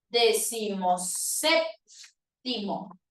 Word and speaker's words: decimoséptimo: en una sola palabra usted va a decir decimoséptimo y cuando tienes dos palabras con tinde dos